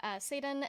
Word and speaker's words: Sadun: So the first season was Sean Allen, I believe, and then Erica Sadun, which I believe I'm pronouncing her name correctly. mhm, Um, yeah, it's Erica Sadun, and then now it's me as the third like season's co-host.